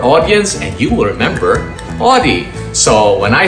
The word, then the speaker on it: Audie: a way that's interesting my name is teacher audi that's spelled with an a-u-d-i-e that's a hard name